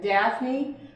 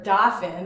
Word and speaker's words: Daphne: Daphne, or Dauphin, I should say, when you're from Belgium, that's how you say it.